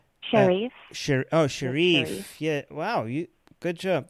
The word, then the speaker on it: Sherif: live chat asking if we have talked about Sheriff already. Is that how you pronounce his name? Sherif.